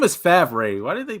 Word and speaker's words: Favre: His name is Favre. Why did they pronounce it Favre?